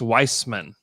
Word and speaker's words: Wiseman: And are we calling him Wiseman or Weissman? Have we decided that, by the way? Wiseman. Because he came out and said it's pronounced Weissman. Weissman?